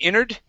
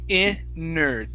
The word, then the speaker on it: entered: So here we can say we entered. Okay, a lot of people do say inerd. Inerd. All right, and yeah, you'll hear people actually pronounce it like this. Entered. We entered the house.